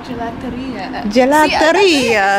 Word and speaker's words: gelateria: Gelateria.